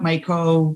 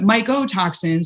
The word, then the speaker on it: mycotoxins: pretty misunderstood is mycotoxins a lot of people who aren't scientists get those two mixed up micro micro if you know you're not paying attention or you're not pronouncing it clearly it's very easy to mix them up but mycotoxins micro comes from you know fungus related uh the the word is fungus related um and it's molecules